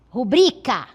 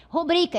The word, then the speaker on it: rubrica: Mas o correto desta palavra é a pronúncia correta é rubrica. Assim mesmo, correto? Por quê? Que ela é a aqui no caso a ênfase na segunda sílaba dubri, sendo uma palavra paroxítona, certo? Esta palavra corretamente do ponto de vista da norma culta é rubrica. É uma palavra paroxítona. A sílaba tônica é a penúltima sílaba.